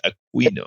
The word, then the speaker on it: Aquino: We say AQUI is Aquino. You had to teach me that your pronunciation is Aquino, so it's Aquino.